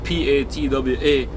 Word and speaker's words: Patois: uh it's spelt piti OS but it's actually pronounced PA TWA is a dialect you know I mean it's